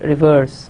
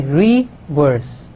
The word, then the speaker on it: reverse: Like when we say the word reverse, we don't say reverse, we say reverse, reverse.